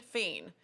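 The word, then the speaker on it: fines herbes: to add fiend herbs not fiend feen and it's spelt fine all you want is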